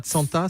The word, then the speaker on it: Tsanta: C'est Tsant qu'on dit, ou c'est pas Tsanta? Ça s'écrit Tsanta, mais c'est Tsant.